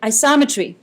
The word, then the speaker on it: isometry: makes sense all right isometry is a transformation that preserves the length and angle measure yes it rhymes with geometry isometry also called the